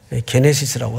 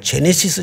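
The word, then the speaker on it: Γένεσις: 게네시스라고 합니다. 또 어떤 분은 발음을 제네시스 제네시스 하는데 뭐 그래도 그렇게 틀린 발음은 아닌데 뭐 자동차 이름 같아가지고 원래 그냥 게네시스로 우리가 읽습니다. 그래서 어떤 학자는 창세기의 구조와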